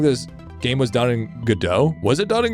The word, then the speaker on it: Godot: Was it done in Godot? She. Yeah? Yo. Lava learned a new engine? Our little developers growing up. Our little developers growing up. Still a little shithead. I actually believe it's pronounced God OT.